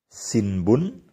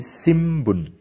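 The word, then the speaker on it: 新聞: Aksara N disusul dengan konsonan B, M, dan P diucapkan M. Seperti sinbun dibaca menjadi simbun, yang berarti koran.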